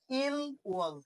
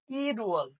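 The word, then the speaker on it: 일월: রিউল বাচ্চিমের ডান পাশে যদি ইয়ং থাকে, তাহলে রিউলটা কি ইয়ং এর জায়গায় চলে যায়। তাহলে উচ্চারণটা হয়ে যাবে ই রুয়াল। কি উচ্চারণ হবে? ই রুয়াল। এই ওয়ালটার উচ্চারণ হবে না, তখন উচ্চারণ হবে রুয়াল।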